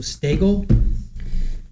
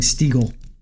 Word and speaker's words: Stagel: She says it rhymes with bagel. So Stagel. That's her name, Heather Stagel. I was saying Stiegel, like Smeagol.